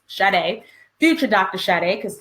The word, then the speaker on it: Sade: It's spelled like shade, but it's Sade.